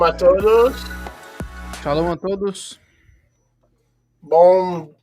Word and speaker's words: bom: Now, how do you say Good. good in Portuguese? Bom? Bom, yeah. B-O-N or B-O-M? B-O-M. Bom.